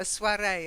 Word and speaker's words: soirée: second word ready yeah we take the French pronunciation a soirée a little get together